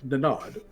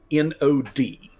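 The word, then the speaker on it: Nognod: is N O G N O D but the G N in the middle is like it's like gnome where the G is silent so it's nod is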